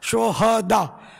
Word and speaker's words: شہداء: یہ صحیح تلفظ ہے شہداء، صحیح، ہاں پر زبر آئے گا. شہید کی جمع ہے شہداء. شہداء ہاں کو ساکن پڑھنا جو ہے نا، یہ اس کے معنی بدل جاتے ہیں.